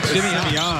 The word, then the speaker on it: Simeon: You got to say it right. You can't say Simeon. Simeon. Okay. Yeah, that's how you say it in Chi-Town.